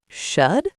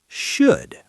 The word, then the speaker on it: should: That is true, but the L is silent. We don't say it. Really? So it sounds like should? Yes, should, like would or could.